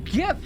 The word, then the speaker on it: GIF: soft form however G GIF stands for graphics interchange format that g is hard my friend that g is hard it's a hard G that is the most